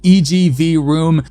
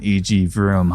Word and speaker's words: EG Vroom: EG Room. Man, I really butchered the pronunciation on EG Vroom, huh?